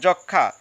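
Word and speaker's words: যক্ষ্মা: নিয়ম চারে আমরা দেখি যুক্ত ব্যঞ্জন বর্ণের সঙ্গে ম ফলা যুক্ত হলে সংযুক্ত ম ফলার উচ্চারণ হয় না অর্থাৎ কোন শব্দের যদি যুক্তবর্ণ থাকে যেমন উদাহরণটা একটু দেখো যক্ষা এখানে কিন্তু খিয় বর্ণটি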